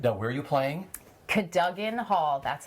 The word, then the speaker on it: Cadogan: Cadogan Hall, that's how you say it, and I've learned that.